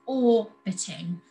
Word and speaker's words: orbiting: just the one t the stress is on the first syllable or bitting so we don't double